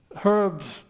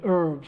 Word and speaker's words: herbs: bottles of course herbs when you say herbs if you um or the Americans say herbs don't they I'm sorry I hear all this time I've been saying herbs and you're probably wondering what's he talking about um if you're talking